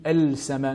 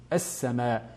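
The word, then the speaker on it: السماء: Nous ne dirons pas Al-Najm, ni Al-Sama, mais bien As-Sama.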